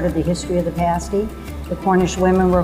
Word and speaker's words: pasty: We also have a breakfast pasty that we created. Pasties are pronounced pasty, like past day meal.